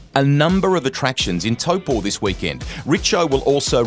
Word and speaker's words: Taupo: How did this deal to go to Aussies say Taupo? The correct pronunciation is Taupo.